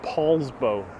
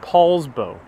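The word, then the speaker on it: Poulsbo: paul says it's pr pat says it's pronounced paul's bow thank you so much paul's bow all right thank you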